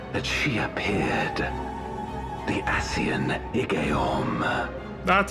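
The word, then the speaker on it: Igeyorhm: The Ascian Igeorm.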